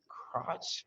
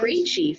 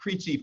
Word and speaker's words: Creechy: The Dave Crotch Foundation? Creechy Foundation. Yes. Okay. Long A, long E. There Yes. you go, Long A, Dave Creechy Foundation.